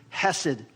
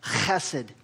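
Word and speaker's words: חסד: The word is, in the Hebrew, hesed, which is not really the right way you pronounce it. You really have to almost like clear your throat when you say it. It's like chesed, okay?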